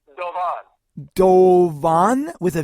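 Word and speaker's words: Doğan: And it's pronounced Dovan in Turkey, and it means falcon.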